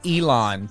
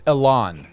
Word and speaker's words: Ilan: I kept saying Elon, but it's Ilan. You honestly, everybody pronounces it differently, and you got both of the main pronunciations.